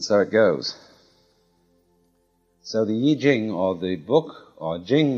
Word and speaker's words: I Ching: extraordinary classic of China, the Book of Changes, called the Yi Jing, not the Wai Ching.